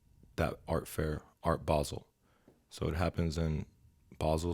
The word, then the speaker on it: Basel: How do you pronounce it? Basel.